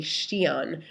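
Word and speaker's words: Xi'an: Mi east of changan changan by the way is modern day Shon which is spelled x i a an and uh then uh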